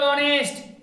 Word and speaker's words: honest: और यहीं पे जैसे हम लोग ऑनेस्ट, HONEST, कौन सा लेटर? कॉन्सोनेंट लेटर है कि नहीं? तो क्या लगाएंगे हम लोग? ए लगेगा? ए लगाएंगे तो गलत हो जाएगा, यहाँ पे एन लगेगा।